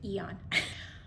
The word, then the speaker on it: Aeon: that I chose Eon and I said it right too Eon number one first of